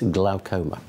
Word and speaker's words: glaucoma: I'm liably told it's glaucoma. Dr Rob Hogan is with me. Rob, good morning and welcome to the programme. Is glaucoma right then? Is that how you say it? Glaucoma? That's fine.